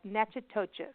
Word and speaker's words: Natchitoches: So it's like Natchitoches.